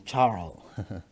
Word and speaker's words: Charles: sebut sebagai hukum Charles sebenarnya Charles ini orang Perancis sehingga pelafalannya hukum Charles tetapi karena kita orang Indonesia ya sudahlah Charles saja nah hukum Charles ini menyatakan